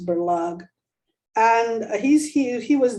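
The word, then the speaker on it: Berlage: with uh berlug bellagio some of you pronounced berlajja i think it's berlug and he's he he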